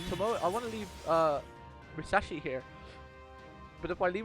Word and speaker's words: Musashi: I always say Musashi as well, but it's Musashi. They don't pronounce the I.